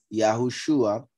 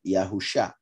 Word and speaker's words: Yahushua: here Yeshua and here Yahushua shows that this Shin Ayin is pronounced as if it had a vav between the two letters, and that makes it Shua, not like some people pronounce it Yahusha, just in case.